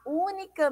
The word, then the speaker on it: única: só única tem acento única é uma palavra O que é proparoxítona Olha só o única e a sílaba tônica é a sílaba mais forte é o que a antepenúltima sílaba e a gente viu que todas as palavras proparoxítonas elas devem ser acentuadas então nós precisamos colocar uma cento aí na letra U certo então única mas sinto